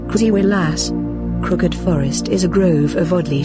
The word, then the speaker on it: Krzywy Las: The crooked forest, Polish pronunciation, krzywy las.